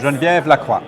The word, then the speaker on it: Genevieve Lacroix: So that's perfect pronunciation. Yes. Genevieve Lacroix.